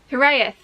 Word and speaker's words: Hiraeth: You'll have already seen it, and I'm saying it wrong. It's, oh god, we've forgotten again. Hiraeth? Hiraeth. Well done, Mum. It's a Welsh word.